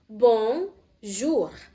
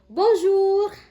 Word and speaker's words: Bonjour: Bzur pasti sering dengar tapi bagaimana cara pelafalannya? Repete aprema ikutin setelah saya. Oke. Bong jur bozur. Pakai intonasi ya seperti menyapa. Bozur. Oke. Repetap prema ikutin saya. Bon jur. Bonjour.